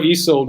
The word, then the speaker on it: Ysolde: the first name um so it's e it's let's just try it it's e e is e and then salt is sold yes that's it i'm sure easold would also understand when